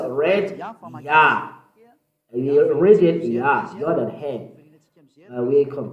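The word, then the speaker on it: יה: Yah. According to the Hebrew, when you see this word, it is read Yah in Hebrew. I tell again, Yod and He is read Yah. We read it Yah, Yod and He.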